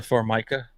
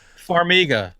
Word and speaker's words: Farmiga: whole movie they did Tessa Formica Farmiga that's how you say her name that's a Redgrave we'll